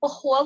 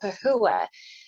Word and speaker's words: Pahua: I'm Pahua in Hmong. That's how you say it. When I was growing up, I would pronounce it Pahua.